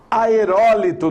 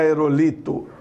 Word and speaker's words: aerólito: Aerólito não é aerolito.